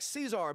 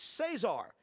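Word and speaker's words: Cezar: He's got a Z in his name, and it looks a little bit like Cesar, but it's Cesar.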